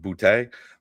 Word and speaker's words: Boutte: You just said his name exactly correctly, because he is from Louisiana, and the fact that you said Boutte, I think is exactly how you're supposed to say it.